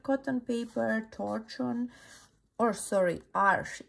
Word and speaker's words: Arches: This was Arches, actually 100% cotton paper, torchon, or sorry, Arch is called Arch, not Arches.